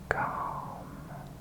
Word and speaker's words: calm: learn to be calmer calm c a l m and the way I pronounce it I I kind of lose the ill it just becomes calm c a a m accents are funny and